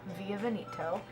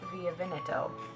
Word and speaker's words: Via Veneto: Okay, I'm going to pronounce it right because I learned how to pronounce it in Italian. Via Veneto. It's not Via Veneto, it's Via Veneto.